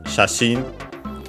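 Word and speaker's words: 写真: is first and foremost shashin, our usual photos. Chinese compound and luckily unaccented, as most of those are.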